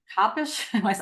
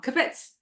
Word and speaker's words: kibbutz: kabish. I'm saying it wrong. Kibbutz. Kibbutz.